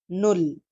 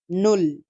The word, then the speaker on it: null: so let's start and you ll is zero and it's pronunciation is no Lee null null e I n s is